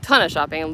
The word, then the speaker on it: Lititz: Lidditz, Lititz. I think I was saying it right.